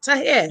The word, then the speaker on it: Tahir: thank you for joining me today have i pronounced your name right is it tahir you did you did perfect i have so